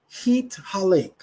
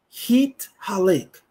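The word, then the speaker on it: התהלך: The word we are going to look at is the second word, which is Hit Halek. Hit Halek. That's spelled He Tav He Lamed Kaf Sufit.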